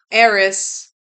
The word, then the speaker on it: Ares: Eris, the god of war. I always say it wrong because I always want to say Aries, but I know it's not pronounced Aries.